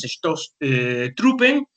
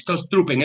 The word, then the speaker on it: Stoßtruppen: Obviamente, como pongo aquí, se emplearon las fuerzas de ataque, las Stoßtruppen, ¿de acuerdo? Esta palabrita aquí es una doble S, una S. Se pronuncia como una S, ¿de acuerdo? Las Stoßtruppen, es decir, fuerzas de asalto.